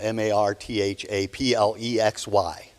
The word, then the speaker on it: marthaplexy: in the room have it's a complicated disease it's spelled m-a-r-t-h-a-p-l-e-x-y and it's pronounced marthaplexy and some of us